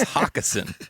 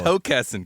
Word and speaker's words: Hockessin: It's Hockessin, guys. Come on, do your research. If there's one thing you should know about the Mid-Atlantic accent is that we're going to stretch that O.